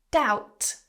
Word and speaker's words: doubt: Doubt, silent B.